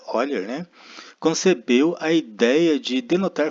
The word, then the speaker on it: Euler: 18 o matemático suíço Leonard Euler se pronuncia olher concebeu a ideia de